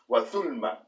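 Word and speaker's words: ظلمة: Arabic, and it can also be pronounced with a Z sound, as in zulma. But in this word, and it depends on the word, it also depends on the region. This word is generally pronounced othulma.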